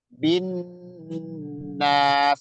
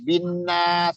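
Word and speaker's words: النَّاسِ: Bin nas itu ditahan dulu. Jangan binas, kecepatan nggak boleh. Ya, setiap ada nun atau mim itu kalau ada tasdidnya bacanya ditahan kayak gitu tadi.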